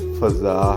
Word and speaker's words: فضا: آس پاس ہے دوست۔ یاد رہے کہ اصل تلفظ فضا ہے، یعنی فا پر زبر پڑتے ہیں۔ یہ عربی زبان کا لفظ ہے اور فا پر زبر ہوتی ہے، تاہم ضرورت شعری کی